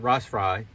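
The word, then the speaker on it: rostfrei: this Ros fry um it's tell you pronounce it rust fry German name and it means rust free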